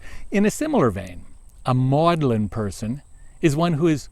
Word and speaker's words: Magdalene: garbled the original meaning if you were to ask CS Lewis where he taught he would say maudlin college but his resume would say that he Magdalene College yes Mary Magdalene's name has been pronounced and spelled maudlin at least since the time of Wickliffe but why would her